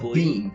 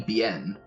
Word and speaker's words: Biehn: I'd say it's Bean. I'd say Bean because it's Biehn, so it might be Bien.